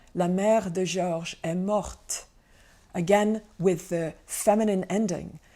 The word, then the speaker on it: morte: like, la mère est morte. So mère, mother, is feminine. It makes the whole noun phrase feminine. And the adjective morte has a t sound at the end, which is the feminine agreement.